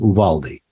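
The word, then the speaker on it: Uvalde: in a little town of I think it's pronounced Uvaldi where a young guy I think killed 19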